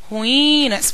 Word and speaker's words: ruínas: vão ter que aprender aprender a pronunciar o termo ruínas pronuncia com carinho tá ruínas eu tenho que Identificar qual é a sílaba mais prolongada em ruínas o i